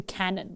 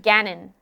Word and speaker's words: Ganon: Why are you saying No, I am a Zelda person, but I'm not good enough with the canon. Like I don't I can't tell you like I I love Zelda. Pronounced Ganon. Oh, my mistake.